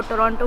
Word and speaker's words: Toronto: बट the thing is that is the right pronunciation. मैं भी पहले टोरंटो टोरंटो टोरंटो बोलती थी, पर देन मुझे किसी लोकल लोगों ने ही बोला कि इट्स टोरंटो.